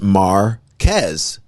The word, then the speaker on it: Marquez: It's your Tampa friend, Joe Marquez, pronounced Marquez. I know you struggled with it last time.